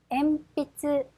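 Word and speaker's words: 鉛筆: 더 연필이라고 하는 단어입니다 엠비츠 엠비츠 파행 앞이기 때문에 미음 발음이 돼서 엠빛 미음이 되죠 자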